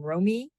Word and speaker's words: Romy: um, I'm not quite sure how you pronounce her name, Romy, I think Romy, it's Rummy.